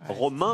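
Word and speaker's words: Romains: Romain, mais ça prend un S à la fin qu'on prononce pas.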